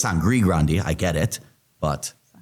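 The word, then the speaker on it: Sangre Grande: it yeah sandy Grandi when there's no D. I say Sandy Grande. Everybody I I know it's Sangri Grande.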